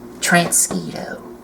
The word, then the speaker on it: Transquito: What is his name? Transquito. Not mosquito. Yes.